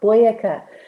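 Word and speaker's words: Boyacá: joined by the professional tour guides association of boyeca we have with us alvaro so alvaro welcome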